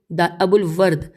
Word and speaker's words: ابو الورد: سے، اور اس نے حریری سے، اس نے ہجے کرتے ہیں الف بے واو الف لام واو رے ابو الورد، ہاں اس نے ابو الورد بن تمام سے،